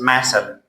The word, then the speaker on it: muscle: This word is muscle. Even though this is the opposite of the rule, but C is silent.